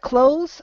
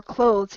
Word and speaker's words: clothes: to slur things but it should have the th in there but because it is